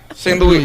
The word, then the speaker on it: St. Louis: St. Louis. We say it like the French.